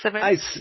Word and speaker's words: Simonds: Like you say, it's Simonds? I pronounce it Simonds.